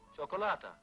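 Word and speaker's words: cioccolata: then how do you say chocolate in Italian chocolata that's just the way she said it chocolata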